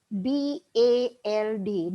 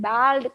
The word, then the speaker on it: bald: It is not BALD, bald kadu, bald. Oh, this is a very, very tricky sound and a very special sound to English.